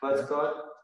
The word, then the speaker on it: Pleskot: I'm at the Charles University in Prague with Vojtěch Pleskot. Did I say it right? Pleskot.